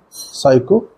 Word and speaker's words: psychopathic: it will be psychic if we write this the stress we need to put on path so the pronunciation would be psychopathic if you write this